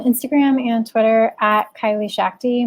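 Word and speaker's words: Schachte: and Twitter at Kylie Shakti my last name is very german and very hard to pronounce it's like you're in a shack drinking tea SCH bc HTE and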